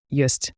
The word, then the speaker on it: ёсць: Hear the yo in yest. It's like yo plus s h c h soft s.